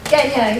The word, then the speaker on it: Gagné: How do you say that? Gagné? Gagné. It's French, is it?